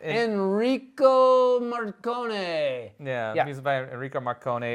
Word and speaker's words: Morricone: So music was by how you pronounce his name? Enrico Morricone.